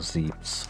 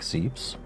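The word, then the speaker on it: Zebes: For the longest time, I wasn't even aware that the whole Zeb'sh or Zee-bess or whatever was such a pervasive thing. But maybe just pronouncing it super shortly, like Zeb'sh, never occurred to me. Again, as a German, because we pronounce our vowels, god damn it.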